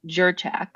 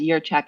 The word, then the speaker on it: Jurchak: j so everybody says jur jur right but but it's it's yeah pronounced as your check as it would be a y year check excellent well